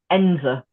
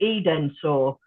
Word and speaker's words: Edensor: I mean, the village that belongs to the Chatsworth estate is called Ensor, but it's written Edensor. So people call it Edensor, but all the locals it's Ensor.